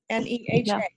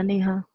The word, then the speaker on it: Neha: N-E-H-A. Yeah, right. Na? That's how you say it? Yeah, Neha.